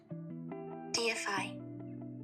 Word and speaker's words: deify: Let's get the pronunciation. DFI.